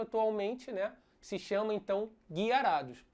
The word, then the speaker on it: Gyarados: E aí naquela época era falado Gyarados, igual é dito em inglês. Só que hoje em dia o termo que eles estão adotando é Guiarados. Então nós tínhamos essas 3 formas de pronúncia. Gyarados, Gyarados e Guiarados.